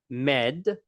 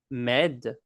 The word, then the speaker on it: m'aide: You're going to have a shortened me. It's not going to be me. It's just going to be like an M syllable is all.